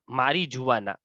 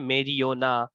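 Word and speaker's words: marijuana: और उसके बाद है देखिए ये द ड्रग मारीजुआना। अब इसके बहुत सारे प्रोनाउंसिएशन है, मेरियोना, मारीजुआना, अलग अलग प्रोनाउंसिएशन लोग करते हैं इसका। हम इंडियन प्रोनाउंसिएशन मारीजुआना करते हैं।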